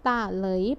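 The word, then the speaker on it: 打雷: เสียง 2 เป็น เหลย คำ นี้ อ่าน ออก เสียง ว่า พี่ ตาล เลย นะ คะ ตา เลย แปล ว่า ฟ้า ร้อง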